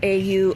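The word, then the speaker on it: Aura Cacia: I personally like Auracacia, or Cassia, however you pronounce it. It's Auracacia, 2 different words. Aura, you know, like as in somebody's aura, and Aura, and then the second word CIA.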